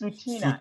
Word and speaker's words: Tsuut'ina: It's Tsuut'ina. Tsuut'ina. Yes, Raisa, did you hear that? So it's Tsuut'ina. So the TS is kind of silent, or the T is silent.